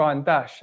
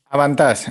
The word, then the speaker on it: Avantage: ¿Avantage o Avantage a la francesa? Avantage, Avantage. Ventaja en francés.